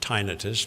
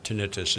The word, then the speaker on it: tinnitus: Some people pronounce it tinnitus, but tinnitus is the usual pronunciation.